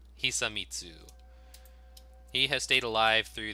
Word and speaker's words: Hisamitsu: Shimatsu? Hisamitsu.